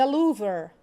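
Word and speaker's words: Louvre: blue mosque please ladies pay attention to the pronunciation the louver the Sphinx Taipei 101 Paulo Milan the Golden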